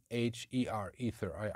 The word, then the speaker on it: Aether: The next band is a Polish band called Aether, or A-E-T-H-E-R, Aether. I think it's, yeah, pronounced Aether.